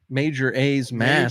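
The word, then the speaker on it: Majora's Mask: Let's do pronunciation. Major A's match. Mask. Major A's mask.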